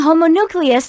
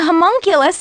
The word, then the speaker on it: homunculus: So he has a pattern of using a homonucleus to do his... Homonucleus. How do you say it? Homunculus? So he has a pattern of using a homunculus to do his dirty work.